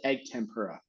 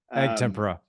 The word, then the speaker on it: egg tempera: you say I pronounce it yeah I I pronounce it egg tempera egg tempera okay yeah um you know I mean I